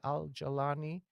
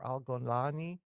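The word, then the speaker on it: al-Jolani: And that's why Al Galani or Al Golani, Golani is the Egyptian uh pronunciation. Galani is the rest of the Arab world.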